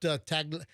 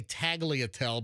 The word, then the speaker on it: tagliatelle: I brought tagliatelle. Your carry-on bag is going through TSA, and there's bags of pasta. Exactly. So Americans say tagliatelle, but it's tagliatelle, and that's the proper noodle to use for bolognese.